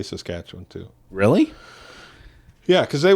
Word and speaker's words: Saskatchewan: say like most people who aren't from there say it's saskatchewan they like it's really pronounced right saskatchewan yep like people say calgary and so i would say to them i said to them say it like this say saskatchewan but stutter one stutter saskatchewan yeah and so then they they would all hit it that way so they said